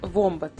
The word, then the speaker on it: вомбат: произносить вомбат другие вомбат за правильность произношения мы не беремся судить но обратимся к русскому орфографическом у словарю российской академии наук там ударе не поставили на о поэтому мы будем произносить вомбат а теперь о самом